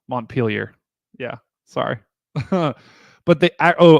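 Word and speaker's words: Montpelier: last time Monty piler I know it's not Monty piler montar yeah sorry but they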